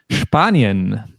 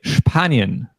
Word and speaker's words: Spanien: And as we heard earlier with the verb sprechen, to speak, in the case of SP in German, we always pronounce it sp. So we say Spanien.